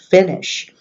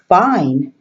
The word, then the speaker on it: Fine: that you know that that's an italian word and in music it's not pronounced fine how are you today I am fine it's pronounced bene fini in Italian this is the whole